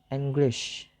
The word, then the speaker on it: English: So the first syllable, that is en, is distressed or unstressed.